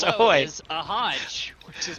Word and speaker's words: ahoj: Their most commonly used word for hello is ahoj, which is pronounced ahoy.